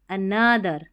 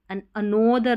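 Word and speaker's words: another: हो जाना from one अनदर अनोदर नहीं पढ़ेंगे अनदर अनदर ऐसा अनदर यानी कि वन अनदर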